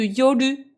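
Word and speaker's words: 夜: nuit, le kanji de yoru. Yoru, c'est la nuit, le soir, la nuit. Là, dans ce contexte-là, il se prononce yo, tout court.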